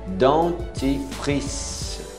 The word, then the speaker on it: dentifrice: Dentifrice. Não pronuncie o E. Dentifrice.